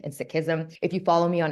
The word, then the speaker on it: Sikhism: And when I say Sikhism, a lot of us pronounce it as Sikh and Sikhism. That's the colonized pronunciation. As we learn to decolonize language, it's actually Sikh and Sikhism.